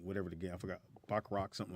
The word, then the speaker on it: baccarat: Baccarat, yeah.